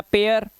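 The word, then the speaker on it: pair: जैसे देखो यहां पर पी है बट ए आई के बाद आर है, तो यहां पर इसका उच्चारण ए आई का उच्चारण ए नहीं होगा, अब इसका उच्चारण होगा वो ए आ से करना है, क्योंकि लास्ट में क्या आ गया, आर आ गया। तो ये हो गया पेयर।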